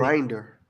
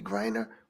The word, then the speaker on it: Griner: Grinder. Grinder. Oh, Grinder. Grinder, like No, that. you Not said grinder, Grinder. Griner.